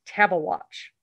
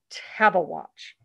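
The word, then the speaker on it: Tabeguache: and by the way this word is spelled pronounced table watch table watch so kind of come up this very long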